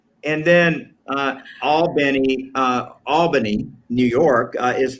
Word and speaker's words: Albany: looks like looks like cairo right and then all benny albany new york is pronounced in georgia albany georgia so i i